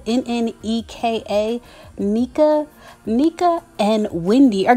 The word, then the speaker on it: Nneka: Both Wendy and the new woman, I believe you would pronounce her name Nneka, N-N-E-K-A, Nneka.